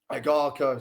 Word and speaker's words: Agarko: Ishmael Davis versus Arako. Agarko, sorry, that's how you say his name.